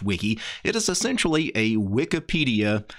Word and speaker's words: Wike: is called Wiki and it's actually spelled w-i-k-e at least I think it's probably meant to be pronounced Wiki it is essentially a